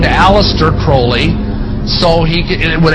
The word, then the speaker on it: Crowley: he likes to bring have his name pronounced crowley to rhyme with holy and uh the statements